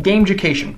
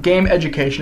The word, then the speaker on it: Gameducation: and by the way it's pronounced game ucation it's just one word it's not game education it's definitely not game education game education I'm trying